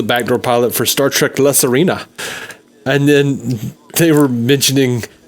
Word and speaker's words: La Sirena: La Sirena.